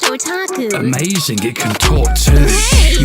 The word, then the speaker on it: otaku: Well, that's pronounced otaku.